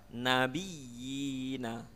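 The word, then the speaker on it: النبيين: Pada lafaz nabiyina ya, dipanjangkan 2 harokat ya, nabiyina.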